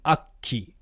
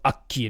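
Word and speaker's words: 悪鬼: From the word, this first kanji is aku, means evil, and then ki is the Sino-Japanese pronunciation of the word oni, so a demon. So akki, an evil demon, a monster, that kind of a thing.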